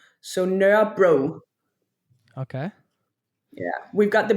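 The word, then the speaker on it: Nørrebro: So Nur bro. Okay. Yeah, we've got the bros around Copenhagen. Bro, Nur bro was surrounded by.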